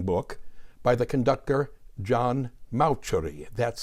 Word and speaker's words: Mauceri: I'm presently reading an excellent and exceedingly irritating book by the conductor John Mauceri, that's spelled M-A-U-C-E-R-I, Mauceri, entitled Maestros and Their Music, the Art and Alchemy of Conducting.